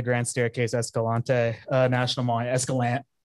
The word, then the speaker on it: Escalante: the creation of the Grand Staircase Escalante National Monument, Escalante, sorry. as a native Nevadan, I get very angry when people pronounce it wrong.